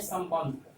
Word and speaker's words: संबंध: एक शब्द है संबंध, यहाँ म है, इसको हम अनुस्वार में बदल दिए, तो इस अनुस्वार का उच्चारण म जैसा ही होगा, संबंध, संबंध।